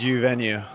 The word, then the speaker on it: Uvenu: Did I pronounce it right? It's U venue.